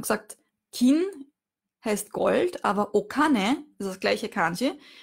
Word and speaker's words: お金: Also, wir haben gesagt, Kin heißt Gold, aber Okane, das ist das gleiche Kanji, hat dann die andere Lesung, die japanische Lesung. Und da spricht man es eben Kane aus. Okane, das Geld.